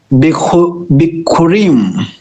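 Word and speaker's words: ביכורים: Do you want to try and pronounce that, brother? Yes. Bikurim.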